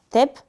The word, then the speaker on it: tep: La consommation s’exprime ainsi en Tonnes Equivalent Pétrole (prononcez « tèpe »), en l’occurrence ici, en milliards de tep.